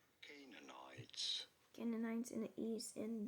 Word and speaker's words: Canaanites: To the You do want to stress on the first syllable, on the K syllable. Canaanites.